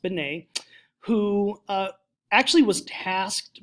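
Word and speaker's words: Binet: 1900s with a man named Alfred Benet let's pronounced Benet who uh actually was tasked by the French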